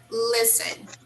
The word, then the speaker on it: listen: i will have a habit okay let's say this word again listen listen listen yes in this word we do not pronounce the letter t it's silent okay so it's there